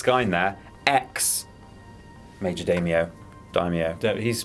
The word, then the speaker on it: daimyo: this time offensive form it's daimyo is die me I wanna make that very clear let's even if we